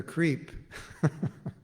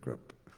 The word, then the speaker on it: Kripa: people called him the creep. But it's actually the crip. He's not the creep, he's the crip.